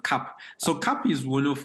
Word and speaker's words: Kap: it so so it's it's basically just pronounced cap so cap is one